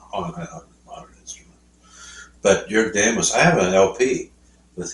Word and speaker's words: Jörg Demus: Jörg Demus.